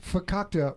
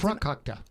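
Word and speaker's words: farkakte: I pronounced fakakta wrong for almost the 12 years that I've known A. Oh my God, and he pronounced always it adds frakakta. Always adds an R.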